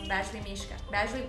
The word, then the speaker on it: Badgley Mischka: Badgley Mischka. Badgley Mischka? No, Badgley Mischka.